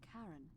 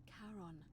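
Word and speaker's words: Charon: it's just as you described it only your pronunciation is a little off the name you heard wasn't Karen it was c h a r o n as in karon the Fairman of the Dead Kon who in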